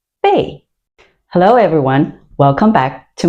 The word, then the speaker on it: 贝: It is this component pronounced bay.